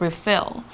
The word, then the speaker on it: refill: 它是续杯的意思。But when it's a verb, it's pronounced as refill.